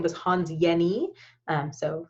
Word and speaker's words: Jenny: his name was hans yeni um so spelled jenny but pronounced yeni um and he basically